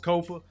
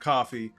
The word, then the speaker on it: Kofa: Once again, I'm your humble host, Kofa, K-O-F-A, not coffee, not kufu, not Kofi, or any variation thereof. Kofa rhymes with sofa, easy to say, easy to spell, aka your favorite YouTuber's favorite YouTuber.